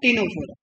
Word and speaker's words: Ctenophora: होता है, एक सिलेंट्रेटा एक टीनोफोरा, सी साइलेंट रहता बेटा।